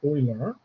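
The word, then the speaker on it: Euler: um concept of uh Oiler number uh is pronounced Oiler um German mathemat Swiss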